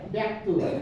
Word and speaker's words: ব্যক্ত: হ্যাঁ শব্দের শুরুতে বসছে যদি শব্দের শুরুতে বসে তাহলে এ উচ্চারণ হবে কি উচ্চারণ হবে এ ব্যক্ত কি হইলো ব্যক্ত ব্যক্ত